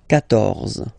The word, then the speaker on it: quatorze: then here, 14, so remember, Q and U here, well, basically you've got to put this U vowel, because that's the rule in French, even if you don't pronounce it, okay, so you will get the sound K here, K, 14, quatorze.